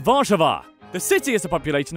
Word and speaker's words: Warszawa: Poland's capital and largest city is Warsaw, which in Polish is pronounced Warszawa.